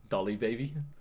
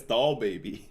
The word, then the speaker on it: Doll Baby: I just said like Dolly Baby. Oh, it's Doll Baby.